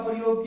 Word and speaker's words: प्रायः: अब इस पर विसर्ग के चिन्हों का प्रयोग किया, विसर्ग लगाए। अब इसका उच्चारण है की ध्वनि से निकलेगा, प्रातः।